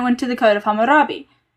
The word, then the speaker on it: Hammurabi: That's why the you have the code of Ernamu, you have the code of lipidar, you have the code of Harambe or Hammurabi.